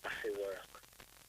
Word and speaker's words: Asework: I see work. Pardon? I see work. Spell it. ASEWORK. ASEWORK. Yes. That's an Ethiopian name. Yes. Asewak.